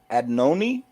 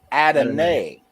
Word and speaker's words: Adonai: How do you say that first name for me, Acosta? Adnoni? Did I say that right? Or Clyde? Adonai. Adonai. Yeah.